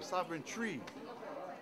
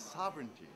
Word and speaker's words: sovereignty: kind of words so they were saying Sovereign tree like was some kind of a tree right so what kind tree that Sovereign tree it's sovereignty finally we start learning